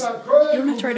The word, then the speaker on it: Köln: Cologne is on the Rhine River, and Cologne is actually use the pronounced Grace, Köln.